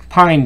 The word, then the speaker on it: pine: Pine, pin, that silent E at the end makes all the difference.